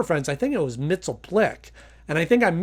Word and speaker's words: Mxyzptlk: lot of different ways I'll probably say mitel flick just because that's the way I'm used to it although in the Super Friends I think it was mitel Plick and I think I'm